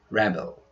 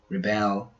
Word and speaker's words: rebel: With the other 3 words, the stress changes according to their use. As nouns, their pronunciations are record, rebel, and increase. As verbs, we pronounce record, rebel, and increase.